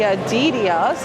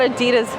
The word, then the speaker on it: Adidas: Here's the Adidas. It's not Adidas, it's Adidas. That's the correct way to say it somehow, and I know I still said it wrong.